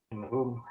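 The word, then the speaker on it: مِنْهُمْ: Tapi kalau kemudian min, bacanya jadinya Minhum.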